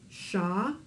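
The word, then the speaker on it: שמש: So this becomes sha-mash, shamash. In Hebrew, every syllable within the word has one vowel and only one vowel. That way you can always tell how many syllables a word has. All you have to do is count up the number of vowels. So in this case, the word shamash has two syllables, a syllable being that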